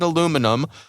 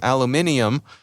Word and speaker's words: aluminium: actually invented aluminum, I'll agree that the American pronunciation is probably the most correct. However, if we take numbers into account again, more people in the world use aluminium, and those numbers are